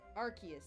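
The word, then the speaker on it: Arceus: to be or's it I think it's pronounced arus I read it in my Pokémon book hold on what was it it said how to pronounce it it said archus yeah that's right like a key in the middle archus so I did say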